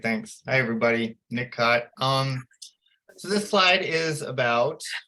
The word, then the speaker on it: Kot: And Nick, how do you say your last name, Nick? Cott. Cott, not Coat. Cott. Nick Cott.